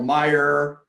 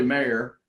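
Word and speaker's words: Maher: real estate right so my last name was misspelled often and miss enunciated yeah you know mire mower Mauer you know myrrh and it's really mayor and it's spelled incorrectly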